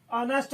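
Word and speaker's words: honest: ऑनेस्ट मैन शब्द का शुरुआती अक्षर भले ही कंसोनेंट हो, लेकिन इसका उच्चारण जो है वॉवेल से हुआ है, इसीलिए इसके पहले एन लग गया है।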